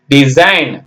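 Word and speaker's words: design: இல்லைங்களா அது எல்லாமே டி எஸ் ஐ ஜி என் டிசைன் இதுக்கு முன்னாடி டி போட்டா அப்படியே டிசைன் ஆயிடுது பாருங்க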